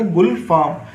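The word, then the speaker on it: گلفام: तो ये पढ़ा गया गुलफाम। तो गाफ पर जो हरकत हमने यूज़ करी है वो करिए पेश हरकत यूज़।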